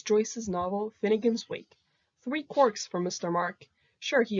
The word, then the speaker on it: quark: all beside the mark clearly joyce meant quark to rhyme with mark bark and park but gelman thought quark